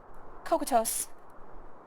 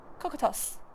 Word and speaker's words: Cocytus: Cocytos. Cocytos. Okay. See, I was looking at these IPA pronunciations, I'm like, what the hell is that?